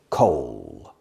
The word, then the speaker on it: coal: mining like escrito pronunciation coal it's like cold without the D cold and there are